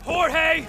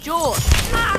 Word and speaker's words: Jorge: one up gets it Jorge my name is pronounced George don't you backtalk me